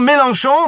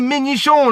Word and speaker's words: Mélenchon: Pour vous dire les amis, pour dire Mélenchon, ma mère elle prononce mal, voilà, qu'est-ce qu'elle dit les amis? Elle dit Ménichon, la vie de ma mère, elle l'appelle Ménichon, c'est une paire de